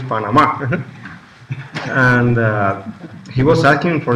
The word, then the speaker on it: Panamá: You know, we were at the airport, and you know, Saturday used to say, "Oh, estamos en Panamá," because in Spanish it's Panama.